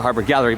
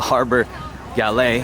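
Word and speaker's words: Harbour Galley: for the harbor galet I've been mispronouncing its name all this time I used to call it the harbor Gallery but it's actually called the harbor galet let me give you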